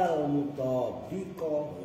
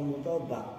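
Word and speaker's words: مطابِق: Al-badal al-mutabiqo. Harakatin mbaknya. Ini yang sering kalian bacanya kadang-kadang kayak dari mutabiq atau mutobak gitu. Al-badal al-mutabi. Nah, mbaknya kasroin itu menandakan isim fa'il.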